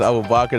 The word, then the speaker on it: Abubakar: My name is Abubakar. That's how you say it in English.